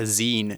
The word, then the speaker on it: zine: And actually, sometimes we call it a zine now as well.